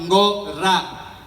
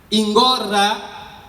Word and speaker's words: Angola: Porque nas línguas Congo, Angola, Níger, Congo, Angola, o som R não existe. É substituído pelo L. Quando você estiver a falar, por exemplo, de Angola, você podia pronunciar Ngorá.